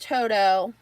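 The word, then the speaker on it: Todo: are the toto plates t-o-d-o it is pronounced toto um that's over in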